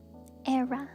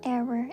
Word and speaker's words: era: Erra, not error.